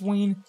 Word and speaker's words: Ween: Also, you pronounce it Ween, right? It's Ween.